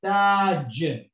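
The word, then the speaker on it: تاج: This word is Taj, Taj, which means, by the way, a crown, okay? Taj, okay? This ta has got fatha and it's elongated by the alif vowel. So it's ta, and the last letter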